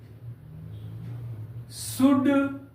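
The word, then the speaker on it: should: डी के पहले एल आए तो एल का उच्चारण नहीं करेंगे जैसे सी ओ यू एल डी कुड शुड वुड इत्यादि एम आई क्लियर प्यारे बच्चों आई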